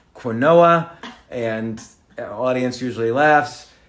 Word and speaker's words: quinoa: It's pronounced quinoa, and the audience usually laughs.